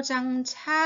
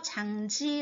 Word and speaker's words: 장지: 라고 말하고 있어요 자고 뭐 장차 라고 잊지 말고 장지 라고 읽어주세요 자 장지는 문의 바른